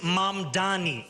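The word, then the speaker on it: Mamdani: And furthermore, the name is Mam Dani. M A M D A N I. You should learn how to say it because we got to get it right.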